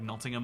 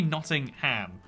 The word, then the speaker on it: Nottingham: obsolete birmingham or like nottingham another weird ones where it's like that should be notting ham but we'll just go nottingham and so yeah things